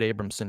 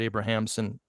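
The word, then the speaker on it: Abrahamsen: age dear dr abramson i pronounce it abramson you pronounce it abrahamson that's totally cool that's all right i just i just think it's easier to say from norway you know i gave it the germanic pronunciation but go forward i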